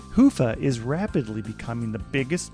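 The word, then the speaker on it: Hyvä: friends talk Commerce is sponsored by hia or as the Europeans say hoofa or the right way to say it Hua is rapidly becoming the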